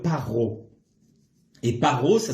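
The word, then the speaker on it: פרעה: Et Pharaon se dit en hébreu paro.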